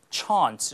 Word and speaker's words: chance: 역시 이제 브리티시 액센트로 chance 이렇게 발음되죠.